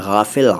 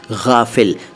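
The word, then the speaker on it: غافل: गैब के बारे में पहले गाफिल देखो भाई गाफिल या गाफिल नहीं बोला है मैंने जैसा मैं बोलता हूं वैसा ही बोला करिए ठीक है शुद्ध उच्चारण हमारे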